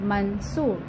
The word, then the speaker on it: Mansoor: Like M-A-N, मन, S-O-O-R, सूर, मंसूर.